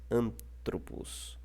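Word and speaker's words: ἀνθρώπου: aí o acento não pode mais ficar no an, ele tem que ficar no tro, tá ok? Então nós não lemos mais antropos, mas nós lemos antropo, tá ok? Porque o foco está nessa sílaba que está acentuada, tá ok?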